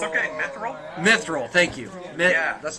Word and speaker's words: Mithril: So I'm afraid to pronounce it. It's okay, Mithril.